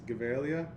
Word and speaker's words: Gevalia: that as a gavalia i think that's probably the pronunciation is gevalia it's swedish founded in